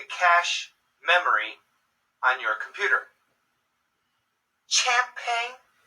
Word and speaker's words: champagne: memory on your computer champagne no champagne champagne it sounds like an SH so words that have